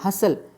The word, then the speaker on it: hustle: फिर आप यहाँ लिख सकते हैं ब्रिसल, हसल, HUSTLE, तो अगेन T साइलेंट है।